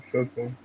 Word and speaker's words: Soto: just have to clarify: is his name Juan Soto or Sorto? Sorto. You said it right. Soto.